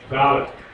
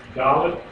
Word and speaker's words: Dalet: Dalet. Dalet. How is it pronounced?